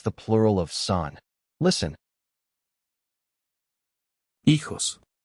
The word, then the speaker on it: hijo: Hijo. The H is silent. You do not pronounce it. Say son after the speaker. Hijo. Again. Hijo.